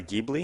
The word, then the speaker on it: Ghibli: it it's a 2014 uh maserati gaming maserati ghibli is that how you say it yeah that's